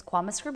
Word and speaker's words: Kwama Scrib: Is that how I think it's Kwama Scrib? Is that how you pronounce it?